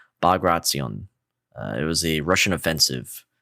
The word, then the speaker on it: Bagration: So hopefully I can say it right, but it's Bagration.